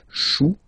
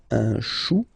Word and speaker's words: chou: Okay, remember, when you combine this C and H, you get the sound sh. Chou, un chou.